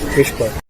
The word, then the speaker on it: WSPR: WSPR stands for Weak Signal Propagation Reporter, simply pronounced as Whisper.